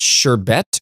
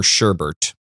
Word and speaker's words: sherbet: do you pronounce it sherbet or sherbert? I say sherbet. sherbet. I say sherbet because I'm from New Jersey. There's no R in there.